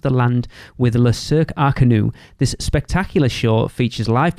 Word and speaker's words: Arcanus: Magic is Le Cirque Arcanu. Is apparently how you pronounce it, even though it looks like it says Arcanus.